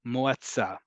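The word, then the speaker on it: מועצה: So if I told you the root is yud ayin tzadi, and it's pronounced, it rhymes with moda'a, so it's moatza.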